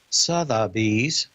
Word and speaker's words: Sotheby's: Sotheby's excuse me I've got to say it correctly Sotheby's is uh not here just on the light